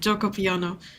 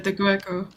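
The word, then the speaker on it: Giuoco Piano: Okay, I had to remember how you pronounced it, Gioco Piano. Yep. Forever I've been calling it the Gueco really?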